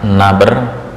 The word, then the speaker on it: nabr: bahas masih melanjutkan tentang naber naber bukan nobar ya naber naber sebelumnya kita